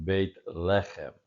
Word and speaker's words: Beit lechem: Beit lechem. Beit lechem. No, actually, the pronunciation accents here, so let's go back and do that one again. Beit lechem, as we did the first time.